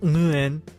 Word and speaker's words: Nguyen: Actually, it's pronounced Nguyen.